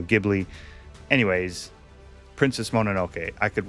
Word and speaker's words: Ghibli: We looked it up. That's how you say it. That's how they say it in Japan. Ghibli. Some people say Studio Ghibli.